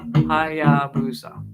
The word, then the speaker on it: Hayabusa: Hayabusa. Cool. Very cool. Thanks for letting me know the pronunciation on that.